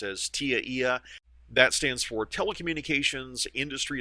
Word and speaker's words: TIA/EIA: standard by the way tia/eia which people commonly pronounce as tiia that stands for telecommunications industry Association SL electronic